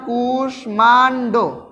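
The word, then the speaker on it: কুষ্মাণ্ড: রীতি অনুযায়ী হয়ে থাকে যেমন অকাল কুশমান্ড এটা উচ্চারণ হলে হবে কি হবে অকাল কুসমান্ড অকাল কুশমান্ডতে কিন্তু চারটা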